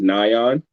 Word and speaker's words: NIAN: So not to correct you or anything, but the way that you pronounce it is NIAN. NIAN.